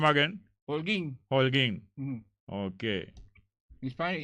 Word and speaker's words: Holguín: Holguín.